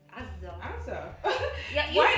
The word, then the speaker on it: Azza: here it's you say Azza because but actually my name is Azza. This letter you cannot pronounce here.